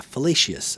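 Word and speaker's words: Felicis: And this one's done in the white uh it's the Felix fellacious uh I can't ever say it. Yeah, fellacious. That's how you pronounce it.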